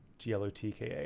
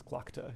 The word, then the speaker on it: Glokta: I thought it was Glokta, Glokka, and it was Glokta, Glokta.